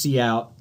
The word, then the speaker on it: cout: in that standard namespace, and that word is cout. It's pronounced cout, and what that literally stands for is the output window.